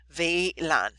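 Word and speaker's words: WLAN: aan w l n it's pronounced V like the w vean okay so vean yeah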